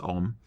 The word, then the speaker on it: ogham: My other thought would be if you decide to do something that is, for instance, written in Olgam, it's actually pronounced Olm, or Gaelic, make sure you know what the heck it says.